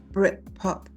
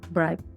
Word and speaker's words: Britpop: Oasis's Britpop ballad Wonderwall. Oasis is Bright Pop. Yeah. Brit as in pop. Yeah. Yeah, as in Britain.